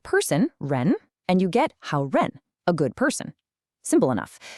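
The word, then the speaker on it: 好人: You put the character for good with person, ren, and you get how ren, a good person.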